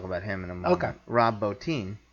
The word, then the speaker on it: Rob Bottin: him in a mocha Rob bow team mm-hmm or that's how you pronounce his name all my life I've said Rob Bottin mm-hm but uh who